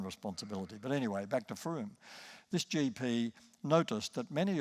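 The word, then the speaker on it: Frome: If you want to Google this later, Froome, by the way, is spelled F-R-O-M-E, pronounced Froome.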